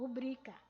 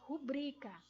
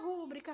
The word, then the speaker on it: rubrica: No dicionário, ela vem escrita como está aí, ó, rubrica, tá? Não vem acentuada na primeira sílaba. Então, ela não é uma palavra proparoxítona. Ela é uma palavra paroxítona. Então, a pronúncia correta dela é rubrica, certo?